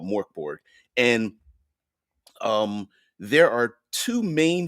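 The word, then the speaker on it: Mörk Borg: Now, I understand that I am pronouncing it incorrectly. It's got the umlauts and all that kind of business, but in a tabletop community, it's been called Mork Borg.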